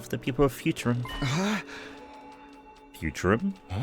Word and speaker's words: Futurum: Futurum? And that's the name of this planet. That's how it sounded pronounced in the local tongue, anyway.